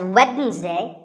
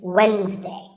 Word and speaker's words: Wednesday: of the week it's wednesday the d is silent sometimes it's pronounced as wednesday but the proper way to say it is wednesday what about this word